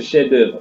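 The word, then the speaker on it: chef-d'œuvre: la signification du chef-d'oeuvre en français on écrit c'est la chef d'oeuvre ans prononcée chez d'heure c'est pour montrer quoi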